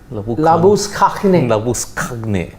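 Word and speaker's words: Labuschagne: Labu Skakne. That is Skakne. Epiglottis. The correct pronunciation, the South African Afrikaans pronunciation. Yeah, Afrikaans.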